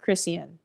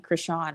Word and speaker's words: Chrisean: Imagine waking up every day throwing fits like Chrisean or I mean Krishawn I think is how you say it.